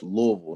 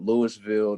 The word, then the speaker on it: Louisville: It's Louisville, not Louisville, not Louisville. It's Louisville, Kentucky. Wow.